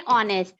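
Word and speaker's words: honest: यस एन, क्योंकि ये start हो रहा है एच से, लेकिन एच साइलेंट है इसमें. एन ऑनेस्ट मैन.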